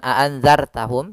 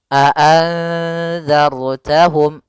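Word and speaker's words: أنذرتهم: Di sini ada huruf ro yang dia ro mati dan sebelumnya ada fathah. Maka kita namakan dengan ro tafkhim. Ro yang dibaca dengan tebal. Maka bukan aanzartahum tapi tebal. Aanzarttahum.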